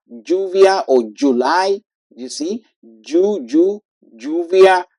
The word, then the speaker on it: lluvia: Now, then we have the la Y or the double L like lluvia, lluvia or July. You see, lluvia. So Y and double L they have the same pronunciation.